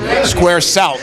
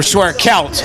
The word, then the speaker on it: Square Celt: coaster that looks good Square Salt or Square kelt I'm going to get this right Square ke probably remember it more because i' said it wrong so Square kelp it's